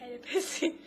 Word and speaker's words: Oedipus: Oedipus.